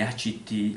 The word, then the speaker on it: ACT: moderna forma di psicoterapia il cui acronimo è a ct che si pronuncia act sono pochi i processi